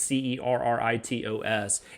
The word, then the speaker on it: Cerritos: It's the USS Cerritos, I guess is how you pronounce that. It's Cerritos, and it's not like it's not a big ship in the fleet.